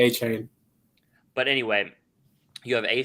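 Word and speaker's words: Achane: plays running backs both how do you say you say his name a-chan no but he he corrected it he corrected his fans and said I'm gonna say a chain but anyway you have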